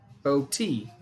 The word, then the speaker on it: Bote: Thank you for the pronunciation. Thank you. Bo-T.